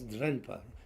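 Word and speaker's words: དྲན་པ: Chinglish pronounce it tempa, but it's drenpa. Drempa, like that.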